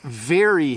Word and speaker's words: very: So very, I just see my lip. Very, and then berry.